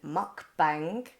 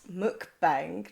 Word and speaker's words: mukbang: Now, last time I kept pronouncing it wrong and kept saying mukbang, but apparently it's mukbang, not mukbang.